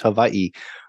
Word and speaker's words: Hawaii: And actually, Hawaii is actually pronounced Hawaii, right?